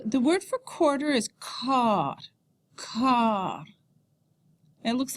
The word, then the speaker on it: quart: How to indicate the half hour and the quarter hours. So, the word for quarter is quart.